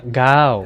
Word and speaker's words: เก้า: カタカナで เก้า ガウ เก้า と書いてありますが、ガオ今回も日本語ガオのうじゃなくてガオタイ語の เก้า という音なので、ガウじゃなくてガウガウ。そしてイントネーションの方はタイ語のゴハ ห้า と同じです。